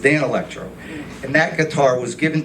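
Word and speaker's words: Danelectro: in the 30s 40s i said what was with that danny electro guitar you gave me he goes it's pronounced dan electro and that guitar was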